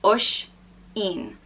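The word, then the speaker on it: Oisín: Oran the next name is Oshin and it's pronounced oh Sh een or xin and is spelt with a Fatih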